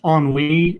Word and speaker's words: ennui: as a correction it's it's pronounced on Leaney and it's it's it's synonyms would be something like melancholy or depression that common it's a reliable source of ennui and our group chats